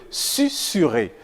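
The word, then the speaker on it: susurrer: entouré de vOYEL mais se prononce ne se prononce pas Z il s'agit par exemple de susurer vraieemblance tourne sol ainsi que des mots commençant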